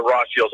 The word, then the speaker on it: Rothschild: And he was involved with the Rothschilds on that one.